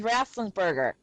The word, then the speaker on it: Ratzenberger: The Cheers actor, John Rathlinsberger. Did I say it right? Mm-hmm. John I think Ratzenberger.